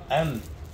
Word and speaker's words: أن: لا هي المفروض أن مش أن. أن إيه؟ مو مشددة.